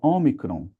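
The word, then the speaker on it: ὄμικρον: Assim como nós vimos que tem um e curto e um e longo, tem também um o curto, que é o omicron, e um o longo, que é a última letra.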